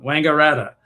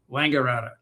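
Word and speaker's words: Wangaratta: And I'm looking forward and finally I figured out how to pronounce the name of that town. Wangarata. Every time Father Father Elra would say it, I got it wrong, you know. So now I know Wangarata.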